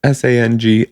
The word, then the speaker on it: Sangiovese: I can't pronounce this word. Sangiovese. That's Sangiovese.